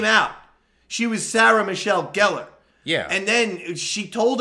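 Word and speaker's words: Gellar: on guillard no i isn't that how you pronounce it i always pronounce it geller well i think i know she's she said on interviews it's gallare but i think i thought she was just being silly no no no when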